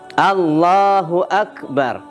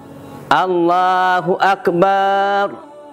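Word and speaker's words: الله أكبر: orang yang tahu itu tidak mau panjang takbirnya Allahnya tidak panjang Allahu akbar nah itu yang tah tentang pengucapan Allahnya nah kemudian tidak dipanjangkan ba Akbarnya Nah jadi tidak dipanjangkan ba Akbarnya Nah di sini juga banyak juga yang keliru Allahu akbar nah ini contohnya yang yang dipanjangkan nih tadi sebenarnya bnya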